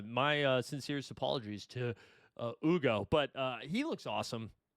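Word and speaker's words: Hugo: I thought it was Yugo and it's Ugo. I believe it's Ugo based on all of the uh broadcasters saying it. So, uh my sincerest apologies to uh Ugo, but uh he looks awesome.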